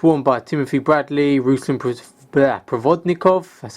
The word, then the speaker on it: Provodnikov: seen these boots worn by Timothy Bradley, Ruslan Provodnikov, that's how you pronounce his name, and many other books.